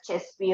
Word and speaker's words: CESVI: It is pronounced as CESVI only.